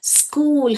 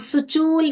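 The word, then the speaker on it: school: क्या बोला ये वाला क साउंड निकाला स्कूल हम सुचूल नहीं पढ़ते हैं स शशूल नहीं पढ़ते हैं हम इसको क्या पढ़ते हैं स्कूल पढ़ते हैं तो इधर क्या बोला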